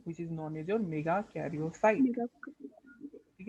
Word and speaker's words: megakaryocyte: ठीक है, इट is pronounced as मेगाकैरियोसाइट।